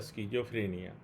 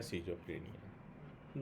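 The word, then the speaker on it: schizophrenia: होता है, और फिर स्किज़ोफ्रेनिया या सिज़ोफ्रेनिया, दोनों ही उच्चारण हैं।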